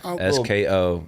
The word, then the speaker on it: Sko: SKO. Minnesota-ish. Not Skull. Like a Skull. That's Sko.